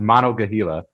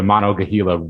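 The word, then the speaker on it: Monongahela: that means so monogahila i might even be wrong but i i think it's pronounced monogahila uh refers to a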